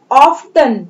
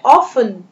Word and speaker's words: often: often, यहाँ पर T नहीं पढ़ेंगे, इसे हम पढ़ेंगे often, T is a silent letter here, often।